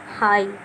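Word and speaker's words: high: जैसे हाई, अब ये GH नहीं पढ़ा, सिर्फ इतना पढ़ा हाई।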